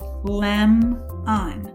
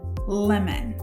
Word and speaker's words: lemon: say pi lut pilot in our next word we also have a v cv pattern but this time instead of dividing before the consonant we're going to divide after the consonant in our first syllable this time we have what we call a closed syllable and a closed syllable the vowel would be short so this would be lamb on lemon you have to